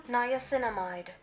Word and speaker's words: niacinamide: Niacinamide. Niacinamide. I was not pronouncing it like that.